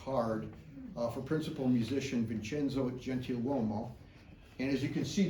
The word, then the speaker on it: Gentiluomo: This is a pension application card for principal musician Vincenzo Gentiluomo. And as you can see there at the top, the name is often spelt with an N, Gentiluomo.